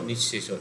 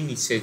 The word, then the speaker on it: নিঃশেষ: নিঃশেষর জায়গায় মানে বাংলাতে তাকে আমরা এমনি নিঃশেষ বলছি, মানে নিঃশেষ এরকম উচ্চারণ হচ্ছে না, বিসর্গ উচ্চারণ হয় না, তাহলে নিঃশেষ হচ্ছে, শয়ে শয়ে হয়ে যাচ্ছে।